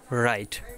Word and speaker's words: write: নাও rules number 2, ডাব্লিউ এর পরে এইচ অথবা আর থাকলে ডাব্লিউ উচ্চারণ হয় না। আমরা উদাহরণ দেখে নেই। রাইট, রাইট মানে লেখা, এখানে আপনি দেখেন WRITE, এখানে উচ্চারণ কিন্তু হবে রাইট।